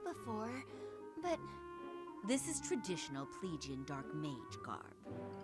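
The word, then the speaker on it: Plegian: a good look before but this is traditional pleigian dark mage garb it's functional that's how it's pronounced i don't mean to offend you it's always called a plague you always grab the spotlight and i could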